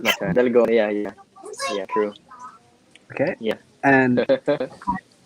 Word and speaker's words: Dalgona: I, Dangona? Dalgona. I definitely pronounced that.